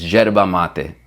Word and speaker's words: yerba mate: With a Argentine accent, it's yerba, but super American or English, you would say yerba, right? YERBA, yerba mate. Boom. You'll never hear me say it like that again. It's yerba mate, okay? I want you to say it correctly too. Enhance your culture. Speak the way that it's supposed to sound, okay?